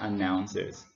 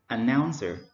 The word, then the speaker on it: announcer: So they are announcers. Okay, so the word is announcer, announcer. So we stress on the second syllable, noun, announcer.